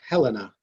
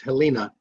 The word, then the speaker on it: Helena: I really wanted to know how to pronounce Helena. I thought, because we have one in Alabama, and in Alabama it's Helena. So there you go.